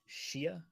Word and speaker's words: Xia: It's technically Shia. Okay. That's what I say, but everyone calls him Zaya.